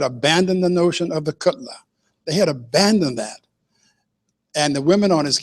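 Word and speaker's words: kgotla: something called the Cutler it's not spelled like that but it's pronounced Cutler and Cutler is any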